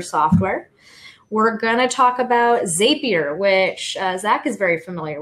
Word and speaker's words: Zapier: thing for me yeah apparently zapier makes you happier so that's the way I've gotta remember and I've been saying it wrong oh that's um and